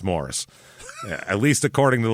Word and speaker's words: Morrice: c is Morris so o I've heard it pronounced Mor ice but then but I looked at a local newscast of the high school football team's highlights and they called it Morris Morris repeatedly so it's Morris at least according to the local news complain